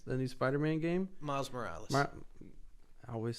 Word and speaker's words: Miles Morales: Marlon Morales, the new Spider-Man game? Miles Morales.